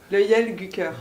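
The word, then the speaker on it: Löjelgucker: Donc c'est le Yel Gucker. Löyel Gucker.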